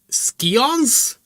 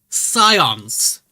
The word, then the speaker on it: Scions: First and for first and foremost, Skons. Scions. It's Scions. It's not Skons. Surely that's not a way an acceptable way to pronounce it, right?